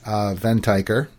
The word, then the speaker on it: Venteicher: with we were we were debating about the pronunciation of her last name but where it's a ven tiger yes it is and you interviewed her just